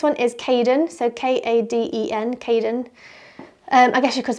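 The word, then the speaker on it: Kaden: The next one is Caden, so K-A-D-E-N, Caden. I guess you could spell it K-A-Y, something like that, Caden.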